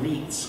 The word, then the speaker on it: Ritz: read i don't know that's the ritz or reets combination rule i think it's pronounced wheat's combination rule and so what happened